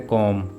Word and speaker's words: comb: यहाँ भी एम के बाद बी आ रहा है, इसलिए बी साइलेंट होगा। वर्ड है कॉम यानी कंघी।